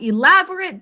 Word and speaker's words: elaborate: as an adjective, and we pronounce it differently when it's an adjective. We say elaborate. Okay, for our dictated sentence, would you write the following? The majority of the house had elaborate decorations.